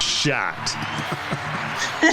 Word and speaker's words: Schadt: Please welcome and I forgot to ask you your pronunciation of your last name, but Jennifer Shhat. Shot. Shot. Shot.